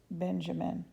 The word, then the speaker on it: Benjamin: Morris Benjamin. Rhymes with cinnamon, he said to me.